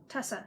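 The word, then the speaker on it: tussah: Tussa, that's how you pronounce it.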